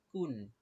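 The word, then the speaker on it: كُنْ: আমরা প্রথম লাইন দেখি কাফে পেশ নুনে জজম একসাথে উচ্চারণ কুন এই কাফ আর নুন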